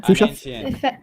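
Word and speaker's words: فصحى: Fusa means proper Arabic. Ancient Arabic. You forgot what? And How do you say the name again? Okay. Fusha.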